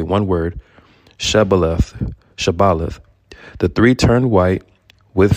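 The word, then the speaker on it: shibboleth: Shabaleth. The three turned white with fear. One by one, they carefully pronounced Sibaleth.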